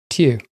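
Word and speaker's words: Tiw: Tuesday is named after Tier, spelled T I W.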